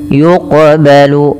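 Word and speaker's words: يُقْبَلُ: Yuqbalu. Nah, ini cara bacanya sebagaimana tadi tajzi harus memantul dan kita kenal dengan istilah bacaan namanya qalqalah.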